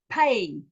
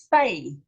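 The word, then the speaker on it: פ: This is a pay. This is a pay. It's a P. It's a pay. Without, it's a fay, an F.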